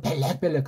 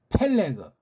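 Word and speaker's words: פלג: 문자가 바뀌어 있는 걸 쓰니까 이걸 펠렉이라고 못 쓰고 벨렉벨렉 하는 그 일본 소리입니다.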